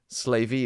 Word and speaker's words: Slavey: also the time of their separation from the slavey is how you pronounce it Indians estimated about 600 years ago